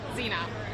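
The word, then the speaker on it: Sina: Yeah, Xena. Xena, can you spell it? S-I-N-A, but it's pronounced like the Warrior Princess.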